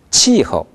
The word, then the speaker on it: 气候: 치허. 치허. 허는 경성으로 발음했습니다.